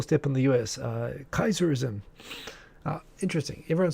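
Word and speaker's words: Caesarism: in the u.s uh kaiserism uh interesting everyone says caesar for kaiser but i actually pronounce it in latin the actual pronunciation of c-a-e-s-a-r-i-s-m is kaiserism just like the german kaiser it's actually the same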